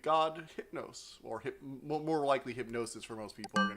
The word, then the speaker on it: HypnOS: know god thing yeah i like how you pronounce it hypno os instead of hypno s hypnos it's hard to pronounce it's hard to see like you want to say hip now so yeah it's hypnos hypno s hypno s